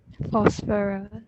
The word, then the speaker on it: phosphorus: Phosphorus. Yeah. Phosphorus. But remember Is that PHO? Yeah. PHO. So pH. The pronunciation is F.